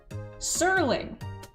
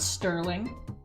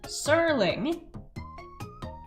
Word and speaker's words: Serling: And for those of you who are unfamiliar, I highly recommend you look him up and watch Serling, not Sterling. Serling. I've been pronouncing it wrong my whole life.